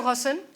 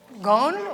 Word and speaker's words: Ghosn: I say Ghosn or should I say Ghosn, or what do you prefer? Well, it depends what's your origin. My origin is Syrian. So you yes, can pronounce Ghosn. Okay. But it's very complicated for somebody who's not of Arab origin. That's correct. So that's why. So we'll say Ghosn.